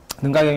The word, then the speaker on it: 능가: 하는 경전을 가지고 했어요 능가경 이 여러가지가 있는데 이때는 사관으로 된 4번 짜이 능가경 을 가지고 있어 네번째는 거야 4 권는 가기를 능가 가 어 이게 요즘 발음으로 하면 l 앙카 방카 란카 들어보셨어요 스리랑카에 4 술 당